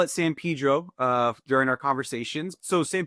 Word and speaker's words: San Pedro: Us locally here, actually, we all pronounce it incorrectly. So locally, we call it San Pedro. Even though as a Latino, I know that that's incorrect.